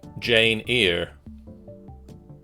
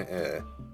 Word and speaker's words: Eyre: question 8 which english author wrote the novel jane ear jane eyre i'm never 100 sure how you're meant to pronounce no it's pronounced here because i've heard it before so i know it's jane eyre as for who wrote